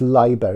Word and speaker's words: Leiber: And I know it's Leiber, isn't it? It's the correct pronunciation. I'm British and Welsh, so I say Lieber, so I do apologise.